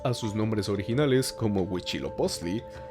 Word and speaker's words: Huitzilopochtli: no nos pronunciemos ansí los españoles los conocían al no poder pronunciar huitzilopochtli idescat época los conocían como gucci lobo y pesca típica pero no me empezó